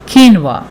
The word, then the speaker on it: quinoa: it is read as qin OA it is pronounced as quinoa quinoa is a seed grain and it is